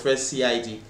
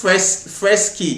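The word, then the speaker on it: freshcid: I thought it was fresh CID. Yeah, yes. Let me know, fresh kid. Anyway, fresh. It's pronounced fresh kid. That's the pronunciation.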